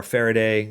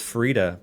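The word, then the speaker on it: Farideh: I know some players say Farida or Faraday, you know, in that direction. But when Erin Evans was on stream with us, she confirmed that it's Farida because in her mind you pronounce it similar to how you pronounce fajita. So Farida, fajita.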